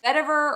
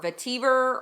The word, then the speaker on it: vetiver: zest pomela star fruit vetiver or vetiver or I've heard it pronounced both ways and Mandarin leaves this